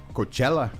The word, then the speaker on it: Coachella: Coachella.